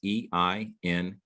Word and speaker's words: Einhorn: And the spelling of it is EINHORN.